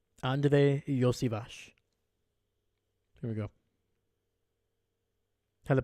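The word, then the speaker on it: Andrei Iosivas: had to look up how do you pronounce it so Andre Yash so that's how you pronounce it y Vash also badass name Andre Yash here we go had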